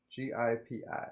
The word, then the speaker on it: Gipi: Gi Pi. Yeah. Um, according to the internet pronunciation guide, who the I would be an E sound, a long E. GP.